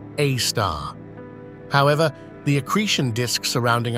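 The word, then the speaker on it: A*: Center known as Sagittarius A asterisk pronounced AAR however the accretion disc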